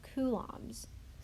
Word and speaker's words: coulombs: to be the charge units of coulombs pronounced like cool cool Long's coulombs and its capital C